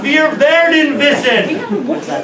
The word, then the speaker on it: Wir müssen wissen, wir werden wissen: David Hilbert says, wir müssen wissen, wir werden wissen.